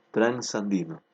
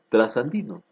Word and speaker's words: transandino: el grupo de consonantes transandino está perfectamente escrito y perfectamente pronunciado transandino o puede ser trasandino que también es correcto esta reducción se reduce